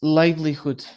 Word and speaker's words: livelihood: Conservation limit be able to farmer who really need it for the liver li the pronunciation is livelihood livelihood.